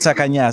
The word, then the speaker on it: Tsakanias: pronounce it correctly so do you like hearing takinis or takanyas I just see six seconds okay there you have it we'll go with sakanya so it has to be Greek you know